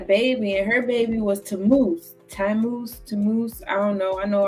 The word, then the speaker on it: Tammuz: So then she had a baby, and her baby was Tammuz. I don't know. I know I butchered that. It's Tammuz.